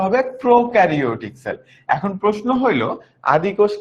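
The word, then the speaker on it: prokaryotic: আর এইটার উচ্চারণটা হবে প্রোকারিওটিক সেল।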